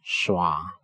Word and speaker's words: schwa: It's called schwa. It's pronounced uh.